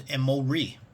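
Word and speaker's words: אמורי: The pronunciation for phonetics is Emori.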